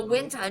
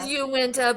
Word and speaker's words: Uinta: But that's the pronunciation that I found was the Wina, not Uinta. Well, it looks like Uenta. It is Uwenta, but they're stupid.